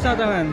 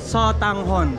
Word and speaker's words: sotanghon: Yes, this is the famous satogan. What's it called? Satogan. Satogan. What? What's it called? Sotanggan. Sotanghon. Sotanghon. You can pronounce it as Sotanghon.